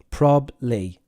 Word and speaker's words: probably: what can I do folks prob Lee two syllables probably probably not probably probably prob Lee probably